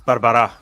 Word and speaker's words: Barbara': So I'm going to say Barbara. Close. It's Barbara, but my name's been butchered in more ways than you can possibly imagine.